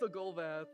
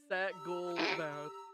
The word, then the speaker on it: Sagolvath: God damn it, I don't know how to say her name. It's Sagolvath. Sagolvath. Sagolvath.